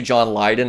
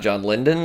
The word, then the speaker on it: John Lydon: mine mentioned that it's actually john lydon and not john linden like from the sex